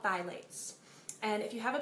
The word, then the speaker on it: phthalates: Phthalates are not spelled how they sound. They're spelled P-H-T-H-A-L-A-T-E-S. I know this because for a long time I went around saying phthalates. That's not how you say it. It's phthalates. I learned that after I